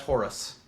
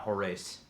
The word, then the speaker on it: Horus: not pronounced no that's Horus yeah it's pronounced Horus not hores I've never heard anyone